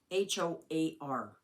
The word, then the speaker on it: hoar: And it is spelled H-O-A-R. Hoar. H-O-A-R. And I know a lot of people, they get that mixed up and try to make it into a different word, and it's not.